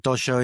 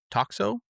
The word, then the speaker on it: Toxo: And another project, I think this is your subsequent project called uh Toxo. I think that's how you Toxo, pronounce it. that's this one. Tosho?